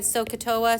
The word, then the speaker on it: SOHCAHTOA: So, let's see, I'm gonna write, if y'all can please, at the very top here, let's write SOHCAHTOA, so you're gonna put SO, S-O-H, Ka, like the bird, right?